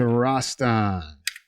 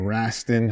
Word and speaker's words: Rastan: Let's move on to Rastan, or Rastin, however you want to pronounce it.